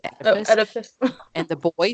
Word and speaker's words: Oedipus: It's Oedipus. That O is silent. It's Oedipus.